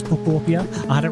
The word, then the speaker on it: Pokopia: That is how you pronounce it. It is Popia.